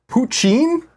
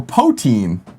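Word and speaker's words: poitín: Poitin, Irish pronounced poutine or poteen, was traditional.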